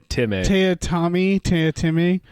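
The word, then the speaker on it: Teatime: Tea Time, yeah. Mr. Tea Time. Tea Timmy is what he keeps telling everybody his name is pronounced.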